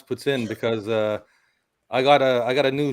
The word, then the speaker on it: poutine: And it's like saying two words. It's like saying puts. Yeah. Like P-U-T-S, puts. Yeah. And in. Yeah. That's how you pronounce it. Puts in. Right. Not poutine.